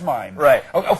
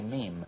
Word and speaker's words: mime: to say it right I'm not going to say mime that's probably wrong it is mime it's from pantomime that's how I'm going to one of those fren things but somebody told me in France they say meme so if this tape